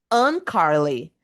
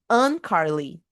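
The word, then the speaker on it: Uncarley: Un Carly. Look, it's spelled U N C A R L E Y. Un Carly.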